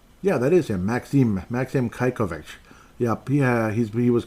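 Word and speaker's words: Čajkovič: So when I was like Kajkovic, no, Kajkovic. So I apologize, Kajkovic. Thank you, Derek, for the pronunciation on that one.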